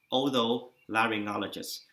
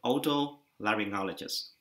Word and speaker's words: Otolaryngologist: sĩ nào cũng gặp vấn đề khi mà đọc là từ bác sĩ chuyên khoa tai mũi họng hay còn gọi là Otolaryngologist. Bạn đọc chậm và đọc theo tôi, Otolaryngologist.